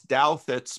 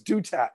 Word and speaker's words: Douthat: I always thought it was Dutat. Nobody knows how to say the dude's name. New York Times writer, right? Or used to be in editorials for New York Times. Douthat. People in the comment section have been schooling me on how to say his name. I've been calling him Dutat my whole life.